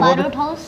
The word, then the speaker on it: Barot House: Barot House?